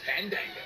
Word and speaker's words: Fandango: You need to feel it. Breathe the A's in. Let it flow through your body.